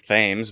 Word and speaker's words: Thames: It says Thames, but it turns out it's pronounced Thames because TH doesn't mean for some reason.